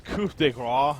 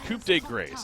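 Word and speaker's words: coup de grâce: but I I know I know it's coup de raw or something like that, but man, I'm American. Coupe grace. I I I spell it out and say it how it's spelled.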